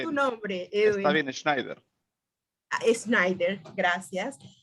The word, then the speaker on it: Schneider: un panel de lujo con Sabina Ríos, Edwin Schneider, perdón, pronuncié bien tu nombre, Edwin. Está bien, Schneider.